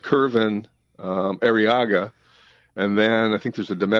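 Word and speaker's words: Kervin Arriaga: And I think it's pronounced Curvin Arriaga.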